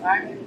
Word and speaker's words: Jaime: That's pronounced Jaime.